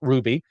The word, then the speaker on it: RWBY: It is RWBY, pronounced Ruby, because it just fits.